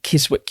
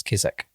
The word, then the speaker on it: Keswick: George Fisher is a shop in Keswick. You run all the mountains. Sorry, Matt. I have to say this. It's Keswick. Oh. Yeah. Carry on. But it's spelled Keswick. Yeah, I know, but it's Keswick. Sorry.